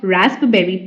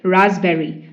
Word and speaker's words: raspberry: is raspberry it's not raspberry B is silent okay it's raspberry raspberry raspberry meaning a